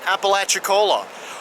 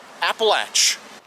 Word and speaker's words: Apalachicola: I had trouble pronouncing it. I had to look that up online just to get the proper pronunciation. Apalachicola, or as some locals call it, Appalach.